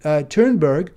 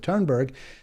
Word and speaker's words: Thunberg: heard it pronounced, so I understand this is how you pronounce it, Thunberg, in kind of my Americanized accent.